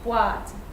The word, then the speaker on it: boîte: This example has an accent on the E, but it doesn't change the fact that it's still wa. So boîte, boîte.